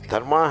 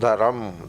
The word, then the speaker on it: dharma: But in Hindi, dharma, they make it that the syllables are rearranged. Dharma becomes dharam, that I is pushed there, and dharam. Sanyukta aksharas put a vowel in between. Dharam or dharma.